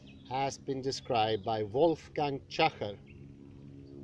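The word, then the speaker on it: Tschacher: been described by Wolfgang Schacher. His surname is spelled T-A-S-C-H-A-C-H-E-R. Schacher.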